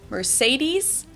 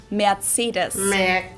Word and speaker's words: Mercedes: we pronounce it Mercedes so Mercedes versus matus matus so it's really pretty different and the full name of course is matus Ben I've also heard that